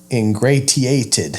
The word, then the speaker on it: ingratiated: think it said good I was reading it phonetically ingratiated forgot it turns into an S sound right ingratiated ABS English